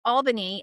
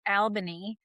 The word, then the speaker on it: Albany: He got his bachelor's and farmd from the Albany College of Pharmacy, which I just had to correct my daughter that it's Albany and not Albany, believe it or not.